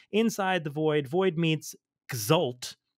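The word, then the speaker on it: X'ul: the void void meets exal which is spelled X apostrophe UL so like cult but with an X and an apostrophe so void meets gal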